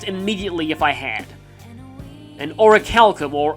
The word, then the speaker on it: orichalcum: An orichalcum, or auriculum, as I used to pronounce it back when I played Kingdom Hearts 2 for the first time as a kid.